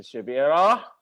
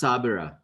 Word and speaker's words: Shabira: they was making, so we got our team over here, Sister Shabira. Sister Shabira. Yep. And It's pronounced Sabira. what happened to The the H H? is silent.